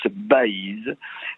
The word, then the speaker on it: Baïse: faut en préciser l'orthographe ça s'écrit avec B a I tréma s e et ça se prononce Baïse et dire que la